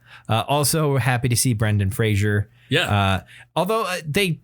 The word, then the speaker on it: Brendan Fraser: Also happy to see Brendan Fraser. Yeah. Although they pronounce it Brendan Fraser. I've always heard it Fraser.